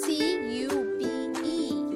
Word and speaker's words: cube: So C-U-B-E is not cup, it's cube.